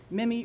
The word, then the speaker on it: Minnie: name is Minnie Minnie rhymes with Jimmy I grew up in